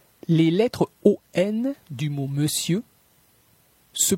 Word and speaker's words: monsieur: Les lettres ON du mot monsieur se prononcent comme un E. Monsieur, monsieur.